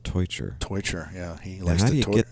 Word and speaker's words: Teutscher: that was real good marco's last name is pronounced torture yeah he likes to